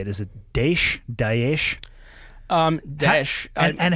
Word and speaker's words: Daesh: Daesh.